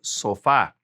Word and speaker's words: sofá: Sofa, very common, el sofá. El sofá, accent on the A right there.